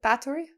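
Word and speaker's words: Báthory: hungarian countess elizabeth bathur bathory is that how they say it that's battory that's factory yeah i know nothing about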